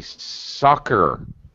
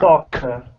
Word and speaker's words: soccer: Also, Giuseppe, soccer, a K sound. Soccer.